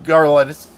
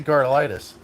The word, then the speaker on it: Garlits: where Big Daddy Don Garlits Darda lightest why do I keep on saying his name wrong Garlits god why did I say car lightest Garlits Big Daddy Don